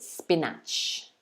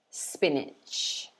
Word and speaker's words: spinach: sp niche but again we stress the first one more than the second so we say spinach